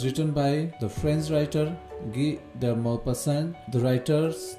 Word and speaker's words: Guy de Maupassant: Guy de Maupassant. Guy de Maupassant. Okay? Maupassant. Okay, since the name of the writer is French and the writer himself is French, right?